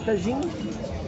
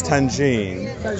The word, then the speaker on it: tagine: So this is tangine. Tagine.